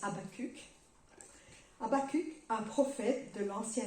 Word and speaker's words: Habakkuk: L'auteur de l'épître aux Hébreux le cite, mais le premier à faire cette déclaration, c'est Habakkuk, c'est comme ça qu'il le prononce en hébreu, mais les Français disent Habakkuk.